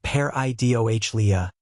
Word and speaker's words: pareidolia: That name is pareidolia, pronounced pair-i-doh-lia, and it is officially